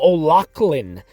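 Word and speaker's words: O'Laughlen: george atzerod michael uh actually i think it's actually michael o'lachlan is the correct uh correct pronunciation of his name david e harold and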